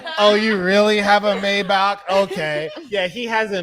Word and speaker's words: Maybach: because it's Maybach. German. Is it Right. German? Yeah, it's German. B-A-C-K. It's like Yeah. Bach, Yeah, the artist. So it's exactly. So it's pronounced in the language of the car maker.